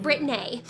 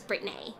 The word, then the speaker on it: Brit-Nay: I'm Brit-Nay. Make sure you pronounce it right or we actually cannot be friends. I'm only joking, but seriously, it is Brit-Nay with a hyphen.